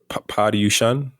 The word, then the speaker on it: Paryushan: Paryushan, Yeah, yeah, is that how you pronounce it?